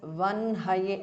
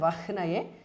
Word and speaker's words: वह्नये: word bhas mahapranah vanhaye please note this word has to be pronounced as vanhaye not vahnaye even though the ha precedes the na while writing as per a grammatical rule the sounds get interchanged so it is vanhaye vishwakarmane is a compound